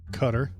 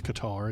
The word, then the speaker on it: Qatar: He got the country of Qatar, which you can't pronounce Qatar, it's Qatar, even though it's spelled Qatar, whatever, is just giving him a plane, and he's totally cool with that.